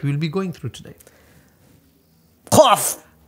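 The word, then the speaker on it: قاف: So it is pronounced from the back of your mouth.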